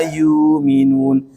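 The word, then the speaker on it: يُومِنُونَ: Yu'minun dibaca panjang, disebut dengan badal, mad badal. Yang membaca ini adalah riwayat Imam Warsh, riwayat As-Susi dan juga Imam Hamzah. Ya, membacanya dengan membadal atau mengganti hamzah dengan huruf mad yang ditumpanginya.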